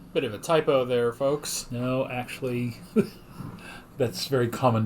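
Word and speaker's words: Ffoulkes: Bit of a typo there, folks.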